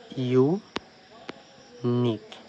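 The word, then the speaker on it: unique: আবার ইউনিক, এখানে ভালো করে খেয়াল করে দেখো, ইউ আছে, তার ঠিক পরেই একটি কনসোনেন্ট আছে এবং তার ঠিক পরে একটি ভাওয়েল আছে। তো যদি ইউ এর পর একটি মাত্র কনসোনেন্ট থাকে এবং ঠিক তার পরেই একটি ভাওয়েল থাকে, তাহলে ইউ এর উচ্চারণ ইউ এর মতো হবে, যেমনটি এই ওয়ার্ডের সঙ্গে হয়েছে।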